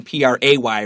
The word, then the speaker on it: pray: under the a in PRA Y right angel okay so they sound exactly the same okay to pray predatory